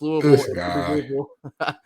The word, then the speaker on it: Louisville: uh in the Pink Panther when he cannot pronounce the word hamburger that's like this guy uh for me so I know it's Louisville moving forward here but we're gonna jump right